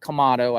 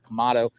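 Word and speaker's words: Quemado: the morning timeing and kamado I I I always say the name wrong it's q m a d o I think kamado um I've seen them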